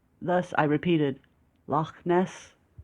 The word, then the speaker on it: Loch Ness: only caught my attention because of the letter “kha,” which he pronounced correctly and confidently… ...The Scottish frequently use the letter “kha” in their speech, which was surprising to my ears; thus, I repeated “Loch Ness?”